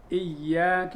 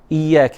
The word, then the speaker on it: إياك: إياك نعبد. الآن إياك، تعال إلى إياك. الخطأ الذي يكون فيه عادة أنه لا يخلص الكسرة فيقول أي وليس إي.